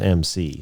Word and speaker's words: MC: Well, I meant if his name was MC, but it's pronounced, you say it like the letters MC.